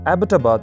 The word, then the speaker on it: Abbottabad: आमतौर पर इस शहर को एबटाबाद प्रोनाउंस किया जाता है।